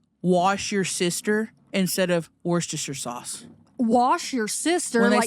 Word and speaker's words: Worcestershire: Is when people say wash your sister instead of Worcestershire sauce.